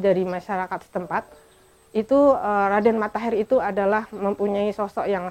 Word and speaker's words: Raden Mattaher: i e r Tahir tapi dalam pelafalan dalam masyarakat setempat E penyebutannya menjadi Raden matahir seperti kalau menyebut ee menyebut akhir menjadi akhir terakhir menjadi terakhir seperti itu e mengenal itu